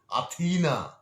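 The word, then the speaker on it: Αθήνα: যেমন জার্মান চ্যান্সেলরের নাম আঙ্গেলা মেয়ারকেল, উচ্চারণটা ঠিক মতো জানবেন। যেমন গ্রিসের রাজধানীর নাম আথিনা।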